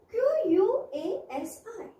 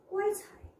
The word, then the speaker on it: quasi: say this word q-u-a-s-i in british english in british standard english it is pronounced as quite high in american english it is pronounced as quasi you can also pronounce the word as quasi so pronounce the word as per your convenience many students find the